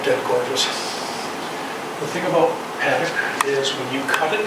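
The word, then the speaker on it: Padauk: So this is Paducah or paddock, however you'd like to pronounce it. I always pronounce it paddock.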